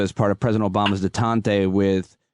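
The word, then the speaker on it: détente: part of President Obama's detente with, is it detente or detente? How do you say that? Detente.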